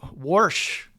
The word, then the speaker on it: Warsh: And so we had our we also had our first uh new Fed chairman Worsh. Is that is that how you say it in Pittsburgh? Worsh. Worsh.